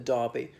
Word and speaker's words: Derby: horse race but anyway for us it's the e is pronounced as an A in that place name and then the race a Derby there are a few